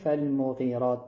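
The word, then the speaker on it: فالمغيرات: بعد حرف میم. اینجا حرف میم کوتاه تلفظ میشه. لبها جمع میشه یک مقدار ولی فالمغیرات نمیشه. اشتباه هست.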